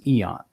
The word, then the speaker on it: AEON: the same thing, is Eon. It's Eon, but it's got an A on the front of it because we got to spell it weird because it's a comic book.